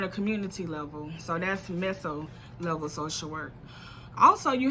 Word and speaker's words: meso: Then you have the meso social work level, and that's MESSO, or sometimes it's pronounced mezzo level. So that's MEZZO. And that's when social workers